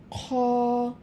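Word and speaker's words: خ: এই খ হরফটি হচ্ছে কণ্ঠনালীর শেষ ভাগ হইতে উচ্চারিত হয়, একটু খড়খড়ে আওয়াজ হবে।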